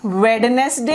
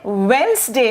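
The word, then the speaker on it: Wednesday: क्या ये वेडनेसडे है? क्या ये वेडनेसडे है? नहीं, ये वेंसडे है। ये जो डी है इसका साउंड नहीं है, ये क्या है? ये है वेंसडे।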